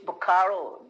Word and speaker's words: Bokaro: city bacaro is still city okay can you spell it it's bokaro b-o-k-a-r-o bukaru yeah yeah it's i'm sorry that i cannot